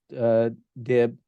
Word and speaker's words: DIB: So that's a hugely important part of what the DIB or the DIBs. I guess he's pronounced it DIB is the correct That's pronunciation.